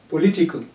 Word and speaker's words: political: Political. Li is stressed.